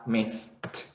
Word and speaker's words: missed: If you have it in past, so you would pronounce it as missed. It's the missed.